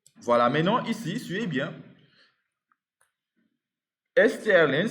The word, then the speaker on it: strlen: strlen s'écrit strlen, comme ça.